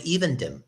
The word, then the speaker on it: Evendim: And I think if I remember right, where Aragorn's walking, he's right above Lake Evendim. Am I pronouncing that right?